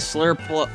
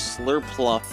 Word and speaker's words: Slurpuff: Swirlix and Slurpuff. I almost pronounce it as Slurpluff almost every time.